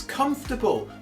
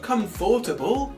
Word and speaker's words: comfortable: best Hermione impression you're saying it wrong it's comfortable not comfortable if you think using sounds in your classroom